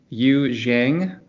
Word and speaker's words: Yu Jiang: microsense today's episode we have a special guest you zhang uh you did i pronounced your last name correctly yeah usually yep